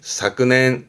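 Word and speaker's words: 昨年: 그래서 발음이 사끈앤 사끈앤 의미는 같죠.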